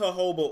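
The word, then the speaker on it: jojoba: all right let's see I know it's hoba oil not Joba I just like to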